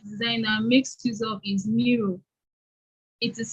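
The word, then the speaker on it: Miro: software that ux designer makes use of is mirror it is spelled m-i-r-o and when we dive into the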